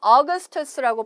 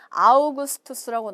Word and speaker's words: Augustus: 여기서는 어거스투스라고 발음을 하셔야 되겠지만 이제 우리 한국말로 번역할 때는 아우구스투스라고 나올 거예요.